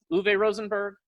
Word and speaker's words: Uwe Rosenberg: So, see, it came out in 2007, and you just told me the pronunciation, but I forget. Uwe? Uwe Rosenberg?